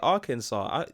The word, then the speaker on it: Arkansas: Is that how you say Arkansas? That looks. You should pronounce it as Arkansas.